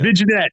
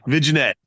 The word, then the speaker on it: vignette: New York baby silent G's are silent like lasagna viette baby viette no have you ever